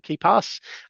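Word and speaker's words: KeePass: pass K I think it's it's pronounced keep and then a s keep ke pass um I think that's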